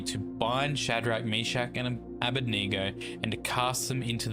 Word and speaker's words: Abednego: against Shadrach, Meshach, and Abednego. Most people say Abednego, but I believe it's pronounced Abednego.